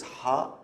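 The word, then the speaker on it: ح: The pronunciation is a little tricky. I know it's a little difficult because it doesn't exist in many languages, but it's like you're cleaning a glass. It's like ha.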